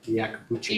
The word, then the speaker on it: Iacobucci: Can you pronounce that man's last name? Is it Iacobucci? Yeah, Iacobucci.